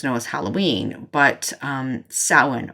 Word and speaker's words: Samhain: is halloween but um samhain or salween depending on how you pronounce it on where you're from but um this is